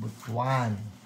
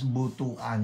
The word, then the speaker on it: Butuan: Nagpunta kami ng Butwan. You know what? That's how you that's how you pronounce it. Okay? Yung B U T A N. You don't you don't um you don't pronounce it as butuan.